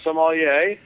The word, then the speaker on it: sommelier: Is it a sommelier? Yeah, sommelier.